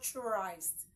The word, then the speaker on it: Christ: CH h r i s d is not Christ it is Christ do we understand are we